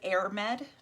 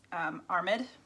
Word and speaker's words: Airmed: So it looks like Airmed, and it's Armid. Seems to be the general consensus on how to pronounce that.